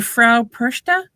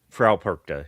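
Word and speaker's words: Frau Perchta: I guess I'm I don't even I'm going to butcher the pronunciation and I'm the Fra Persa. Fra Perka. Yeah. Oh, Perka. Okay. I thought it was Perka, not Persa. That's what I've been told as how it's pronounced.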